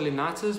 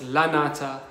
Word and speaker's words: lanata: are two different Drosera lunatas, because I thought it was a tuberous Drosera. Okay guys, my bad, I just pronounced the word wrong. It's not lunata, it's lanata.